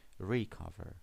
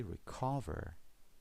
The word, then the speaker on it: recover: The stress is on the second syllable this time. We don't say recover, we say recover.